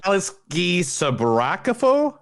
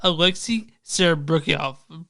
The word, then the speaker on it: Alexei Serebryakov: It's Alexei Sabrakafo? No, Alexei Serebryakov.